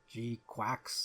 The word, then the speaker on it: GQuuuuuuX: cook the beginning okay I know the people in the movie call it g quacks and the con of where it similarly says gqu so I'll try to stick to that pronunciation but don't blame blame